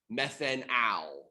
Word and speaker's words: methanal: So, as far as like proper pronunciation goes, we'd be talking about methanal, ethanal. We're going to really hammer that al at the end instead of all, because we don't want to confuse it with an alcohol.